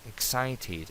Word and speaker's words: excited: Excited, aquí sí se pronuncia la ed. Excited, emocionado.